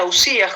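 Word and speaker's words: οὐσία: dicen las substancias y en griego se pronuncia ausías jóvenes es el concepto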